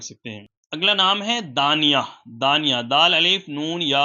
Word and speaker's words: دانیہ: ہیں تو رکھ سکتے ہیں۔ اگلا نام ہے دانیہ، دانیہ، دال، الف، نون، یا اور ہا۔ آپ اس کی اسپیلنگ بھی اسکرین پر دیکھ سکتے ہیں۔ سورہ